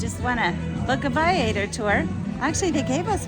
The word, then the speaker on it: Viator: Okay, so it is Viator. Not Viator. I always thought it was Viator, but it's not. It's Viator. I looked it up on their own YouTube video where they pronounce their own name.